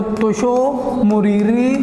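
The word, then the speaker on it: त्सो मोरीरी: तोशो ऐसे बेटा लिखते हैं, देखो तोशो ऐसे बोलो, तोशो मुरीरी झील, मोरीरी झील, थोड़ा अजीब शब्द होते हैं बेटा, इनका उच्चारण थोड़ा अच्छे से करो तो हो जाता है।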